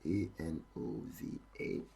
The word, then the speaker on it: ANOVA: looking at one way and over and over is spelled a-n-o-v-a yeah that's Anova that's supposed to be in